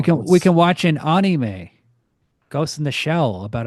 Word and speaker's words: anime: Anime. Anime. An No, it's pronounced anime.